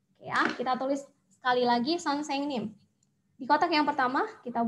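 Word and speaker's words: 선생님: Jadi bacanya adalah son, seng, nim.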